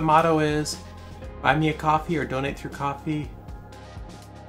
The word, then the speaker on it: Ko-fi: It's pronounced coffee.